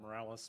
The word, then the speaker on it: Miralles: My name's Morales. Morales is spelled Miralles.